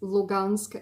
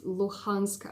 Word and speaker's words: Luhansk: across donetsk and lugansk actually it's lugansk in the russian pronunciation and it's luhansk i believe in the ukrainian pronunciation uh yeah so and